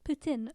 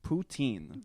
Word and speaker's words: poutine: Poutine. Poutine. Is that the proper pronunciation? If you're a Quebecois. Well, I'm going to say it the non-Quebecois way. Poutine.